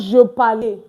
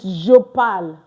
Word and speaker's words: je parle: So you see now, it's not je parle, it's je parle. Je parle. Because the E here is not pronounced. The same thing as je travaille. Je travaille. Not je travaille. J'habite. Like, please don't pronounce this E at the end.